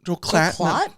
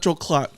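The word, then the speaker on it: Joel Klatt: Joel Joel Clatt. No, not Joe Clatt.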